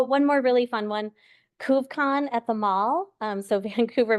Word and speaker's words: Couve Con: CoveCon, CouvEcon. So like instead of Comic-Con, CoveCon. And Couve, like Vancouver.